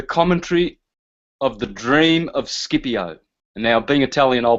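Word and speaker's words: Scipio: this is the commentary of the dream of skipio now being Italian I'll pronounce that shiio because that's the correct pronunciation but there it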